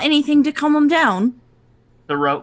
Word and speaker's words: Thoreau: Thoreau, Captain Thoreau, like Henry David. Yes, spelled the same way.